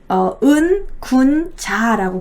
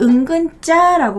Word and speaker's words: 은군자: 한문으로 은군자라고 불렀어요. 은군자. 그래서 이제 이 막 그늘에 숨겨진 뭐 군자 뭐 이런 식으로 그렇게 불렸는데 은군자라고 부르기도 하고요. 그것이 이제 은근자 말하다 보니까 은근자라고 발음하기도 합니다.